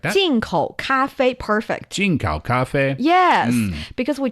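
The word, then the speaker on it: 咖啡: It's the tones. It's a little higher, right? Cafe. Cafe. And it it's the same tone for the first syllable and the secondh syllable. So like that. Cafe.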